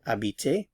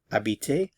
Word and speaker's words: habite: going to look at AB to live to inhabit AB note that the H is silent ab ab remember for